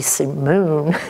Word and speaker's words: Simone: And that's the simple formula I use for building the beginning of the Corcoran Simone Company, with an accent on the Simone.